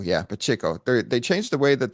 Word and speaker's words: Pacheco: And they've been changing the way that they use, how do you say it, Pacheco? Pacheco, yeah, Pacheco.